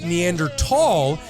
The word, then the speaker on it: Neanderthal: The region's word for valley at the time was Tal, T-H-A-L.